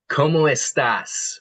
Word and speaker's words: cómo estás: ¿Cómo estás? With an S at the end.